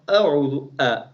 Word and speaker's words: أعوذ: In this a'udhu, some people, they make mistake because of ain. They make hamza as also ain. No, ain is ain. The hamza of a'udhu, like letter a.